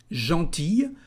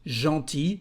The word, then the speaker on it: gentil: The masculine form is just gentil, with one L, but you don't pronounce it.